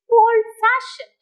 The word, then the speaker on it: old-fashioned: stress and in the word old fashioned fashion is the second part so fashion takes the stress so you can have